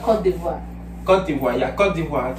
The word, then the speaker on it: Côte d'Ivoire: It's Côte d'Ivoire. Côte d'Ivoire. Côte d'Ivoire. Yeah. Not Côte d'Ivoire. Côte d'Ivoire, yeah, Côte d'Ivoire.